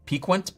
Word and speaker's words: piquant: Do you say piquant, p i q u a n t?